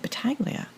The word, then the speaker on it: Battaglia: I said Battaglia, but the G is silent.